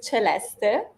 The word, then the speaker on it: Celeste: Tanong ko talaga kanina, how to pronounce your name properly? All right, it is Celeste. Yes. That's how you pronounce my name, yes.